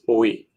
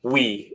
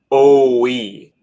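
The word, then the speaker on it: oui: So, and it's not actually pronounced we. It's you pronounce like O-we, but you spell it you just say it really quickly.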